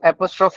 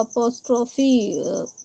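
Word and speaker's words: apostrophe: ये जो हेडिंग है मेन एपस्ट्राफ हम लोग तो इसको एपॉस्टोफी साउंड प्रोनाउन करते हैं उसको। इट्स एपॉस्टोफ। ओके।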